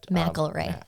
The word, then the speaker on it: McElray: McElray. I intentionally call him McClara B just to irritate him.